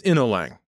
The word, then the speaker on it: Inolang: Next is Inolang. Most Chinese people would pronounce it as In-No-Lan.